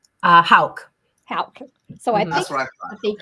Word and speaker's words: Houk: how do you say your last name uh Hal Hal so I I think you got it